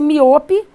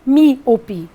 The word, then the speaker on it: míope: Observem que a força está na antepenúltima. Você não pronuncia miope nem miopé. Você pronuncia míope.